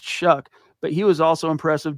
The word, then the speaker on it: Shough: You would never guess that Tyler Shuck's name, if you see how it's spelled, Shough, is pronounced Shuck.